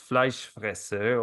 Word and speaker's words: Fleischfresser: that your last name, which I would say is Fleischfresser, or like the German pronunciation, is a very typical German last name.